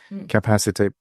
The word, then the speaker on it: capacité: And what is that capacité politique? Yeah, and you pronounce it just fine.